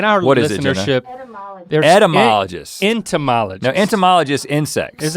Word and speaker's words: etymologist: to tell us and somebody's mispronouncing it it's not end there's no n in it yeah because that's the